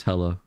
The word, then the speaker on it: HLA: HLA should be pronounced as hella.